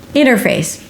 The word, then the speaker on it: interface: Interface. It actually sounds like "in her face".